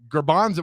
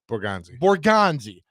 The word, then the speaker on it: Borgonzi: Because I'm telling you, if you got Brinker and Borgatze or Garbanzo, what? How do you say his name? Borgonzi. Oh, yeah. Oh, yeah. He's a Paisan, right? Borgonzi.